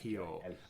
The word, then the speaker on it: Hijo: Well, you don't have to add that, but you definitely have to have that silent J. You don't pronounce that. Hijo.